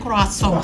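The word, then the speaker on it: croissant: seri Kita pernah melihat mendengar kroasong Oh itu bacanya kroasong sudah kroisan kasong lidah Jawa kasong Kemudian Kemudian ada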